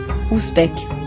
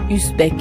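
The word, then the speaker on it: Usbek: C'est pour ça que je prononce ton nom comme il faut, bec et non pas usbe à la française.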